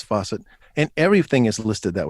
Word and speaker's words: Fawcett: And that's Fawcett, not spelled like the kitchen faucet. Yeah. If you're old enough, it's spelled like Farrah Fawcett.